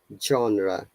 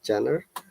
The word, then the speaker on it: genre: last one genre okay remember that this sound is genre not jenner i've heard many people